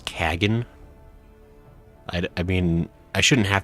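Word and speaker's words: Khagan: I shall enjoy this Harn. Sadhu, I think you pronounced that incorrect. It's Kagan.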